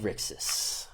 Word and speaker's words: Rixis: people think it's a city of gold it's pronounced rixis r-i-x-i-s it's a hidden temple you have to